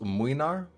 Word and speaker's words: Mlynar: Then there's Gregory with Mlynar, and yes, I know it's pronounced Mwynar, but I do not care.